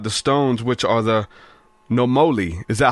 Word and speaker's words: Nomoli: But we're going to be talking about the stones, which are the Nomoli. Is that how you pronounce it? Nomoli stones? Yes, Nomoli stones.